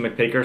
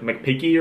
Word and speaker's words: McPeake: So bring on McPeaker, surname is spelled M-C-P-E-A-K-E, right? So McPeak, and before I was like, just make sure it's not like McPeaky or something like that. She goes, no, it's definitely McPeak, because I want to